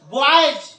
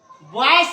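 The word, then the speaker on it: boys: आर्मीज, सेनाएं, बॉयज, बॉयस नहीं, बॉयस नहीं, बॉयस, स नहीं, बॉयज, लड़के, रुपीज, रुपया। इस तरह से इसका उच्चारण ज होगा।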